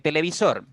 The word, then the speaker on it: televisor: En televisor tiene 4 sílabas. Televisor. Televisor. La mayor fuerza, la mayor intensidad cae en la sílaba que está marcada con rojo, en sor.